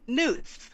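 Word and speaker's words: Knuth: changing professor kevin kunth k-n-u-t-h news news oh it's like night connect the k is silent that made me tear up a little bit um wait pronounce it again newt newt all right so professor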